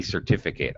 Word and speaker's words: certificate: noun it's also a certificate i got my certificate all right again i reduce pronunciation i i don't say eight uh and uh all